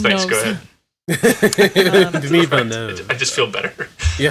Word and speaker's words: Villeneuve: Villeneuve. Okay, thank you. Phew. Okay. All right, Keith. Someone thanks. knows. Go ahead. Denis Villeneuve.